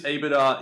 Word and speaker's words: EBITDA: EBITDA?